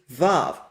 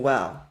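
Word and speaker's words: וָו: day, and they use vav. that does not mean that these scholars necessarily believe the original pronunciation is Vav. So actually scholars believe in the wow, in the semi-vowel pronunciation for wow.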